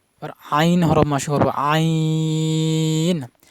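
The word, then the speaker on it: ع: করা যাবে না রবার আইন হরফ মাস করব আইন আইন হরফের মাখরাজ হলকের মধ্যখান মানে গলার মধ্যখান থেকে উচ্চারণ হবে হালকা চাপ দিয়ে বেশি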